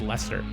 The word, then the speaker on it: Leicester: of the name because the way it's spelled does not say Lester and when I looked it up it was spelled phonetically so I checked it out and it's it's pronounced Lester that's according to the